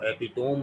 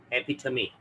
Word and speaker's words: epitome: इसको एपिटोम नहीं पढ़ते, इसको पढ़ते हैं एपिथमी। एपिथमी, में आखिर में में आ रहा है, एपिथमी।